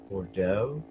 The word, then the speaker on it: Bordeaux: Bodeaux. And the X is silent, I'm sure. So that's French.